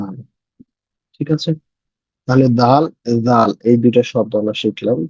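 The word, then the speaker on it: دال: এই জায়গায় লাগায় যদি উচ্চারণ করেন তাহলে উচ্চারণ হবে দাল।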